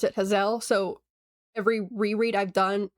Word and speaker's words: Hazelle: I know some people say Hazel, but it's spelled h a z e l l e.